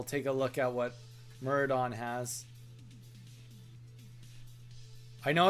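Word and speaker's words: Maraudon: It's Thank you, Muridon. It's the next dungeon. You probably get better stuff from there. Let's just take a look. While you guys are tenting, I'll take a look at what Muridon has.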